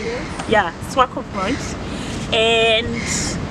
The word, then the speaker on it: Swakopmund: Yeah, Swakopmund.